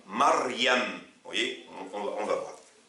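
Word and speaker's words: مريم: Lorsqu'il est au milieu et à la fin, il se prononce en général i, sauf dans certains cas comme Maryam.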